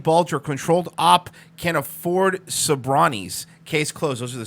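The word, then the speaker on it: Sobranie: I'm not gonna say Croatian, I believe he said, but it's actually pronounced Sabrani. Sabrani.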